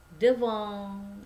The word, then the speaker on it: devant: C'est devant ya. Jadi kalau misalnya ada huruf N itu ada huruf vokal. Ini huruf konsonnya T dibacanya eng ya, devant ya.